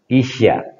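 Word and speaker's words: 医者: Isya, bukan Isa ya.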